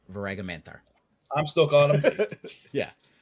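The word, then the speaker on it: Voaraghamanthar: It's Varagamanthar. That's how it's pronounced. Varagamanthar.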